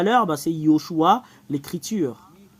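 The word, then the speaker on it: יְהוֹשֻׁעַ: Et si nous avons pris l'écriture de tout à l'heure, bah c'est Yehoshua, l'écriture. Le résultat, c'est Yehoshua. Ho, parce qu'il y a un point juste ici.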